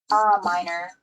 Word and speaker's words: Miner: It's M-I-N-E-R. Minor, like the profession.